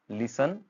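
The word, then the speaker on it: listen: Receipt, island, date, castle, लिसन, देन next is develop, next is country. यहाँ क्या देखा हमने कि साइलेंट लेटर्स कौन कौन से आ रहे हैं, ऑफन, लिसन, कैसल में आ रहा है आपका टी साइलेंट आ रहा है।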